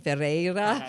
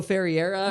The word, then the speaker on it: Ferreira: It's like a Portuguese name, Ferreira. I think a lot of Americans will say like Hugo Ferreira or something, but that's not how it's spelled.